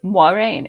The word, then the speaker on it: Moiraine: It is Moiraine. It's kind of got a moi.